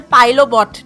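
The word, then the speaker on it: Pilotbot: Why do I keep pronouncing it like it's French? The T is not silent. Not French or Spanish. Like it's like tortilla. It's a pilobot. There's a T in the middle.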